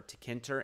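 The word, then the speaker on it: Tkinter: - Kantor works but you can look online for tech enter in Python and it's spelled TK I and ter and it teaches you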